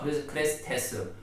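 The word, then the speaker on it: χρηστός: 그리스도 기름 부음을 받은 자, 이 그리스도의 헬라어 발음이 크리스투스입니다. 크레스투스이고요. 자비가 크레스테스입니다. 이 두 단어가 비슷하지 않습니까? 크레스투스와 크레스테스, 이 두 단어가 참 비슷하다 보니까 과거 헬라인들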